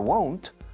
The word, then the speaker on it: won't: No, there won't. There won't. Fijaos en la pronunciación. Won't. Cerramos mucho la O. Es una O muy a lo gallego, como ourense.